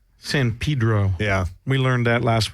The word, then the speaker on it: San Pedro: I just wanted to pronounce that correctly. San Pedro. San Pedro.